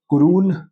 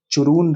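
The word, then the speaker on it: Churún: तो कुरून river चरून river. कुरून river जो भी आप प्रोनाउंस करना चाहें।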